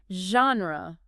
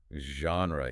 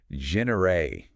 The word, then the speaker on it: genre: Okay, let's tackle a word with French roots that often throws people off. Genre. Genre.